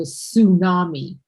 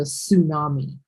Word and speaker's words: tsunami: It's called a tsunami. And that's the water coming up. Okay. The T is silent. You don't pronounce the T. It's just called a tsunami.